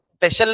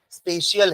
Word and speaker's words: spatial: Preserve, preservation of द स्पेशियल arrangement, स्पेशल नहीं है ना, स्पेशियल है, स्पेलिंग क्या होगी? SPATIAL, नॉट SPECIAL, वो तो स्पेशल हो गया।